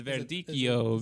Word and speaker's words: Verdicchio: How would I pronounce the grape? I already forgot what the grape was. It's Verdicchio.